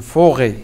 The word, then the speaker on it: forêt: Une forêt. Raba, une forêt. Forêt. Faites attention, il y a un T, une lettre muette.